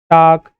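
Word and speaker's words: talk: एल में देखिए तो काम, टाक, वॉक, हाफ, कहीं भी एल का उच्चारण किया जा रहा है क्या, नहीं, क्योंकि ये साइलेंट है।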